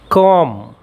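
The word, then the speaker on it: comb: कॉम। इसमें B silent है।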